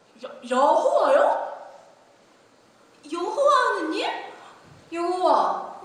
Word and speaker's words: 여호와: 우리 발음으로는 여호와입니다. 여호와요?